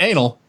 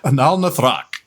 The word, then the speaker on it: Analithra: Yeah, it's not anal, it's Analithra.